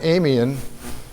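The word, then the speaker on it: Eemian: So the last interglacial was about 120,000 years ago, and that was called the Amian. I guess that's how you pronounce it, E-M-I-A-N, interglacial period.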